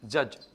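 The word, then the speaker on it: judge: गया ठीक है ना इसके अलावा जो डीजीई होता है लास्ट में जो डीजी ई होता है वो भी ज का साउंड देता है कैसे जैसे देखो जे यू डी जी ई जज ठीक है ना अच्छा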